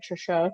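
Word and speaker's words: Truchelut: Shout out to Dr. Ryan Trisho, that's how he pronounced his name.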